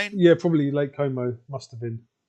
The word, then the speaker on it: Como: I think you went for Lake Como. I think I went for Lake Ko as well. Rhymes with homo.